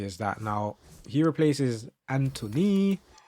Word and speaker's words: Antony: Now he replaces Antony. I always say his name like that because if you see how it's spelled it's like Anthony um Robinson.